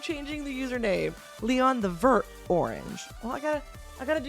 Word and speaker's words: vert: Vert is how you say it in French, right?